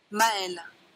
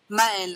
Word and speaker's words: Maël: Maël. Maël. I think I just send this to everyone about how to pronounce my name.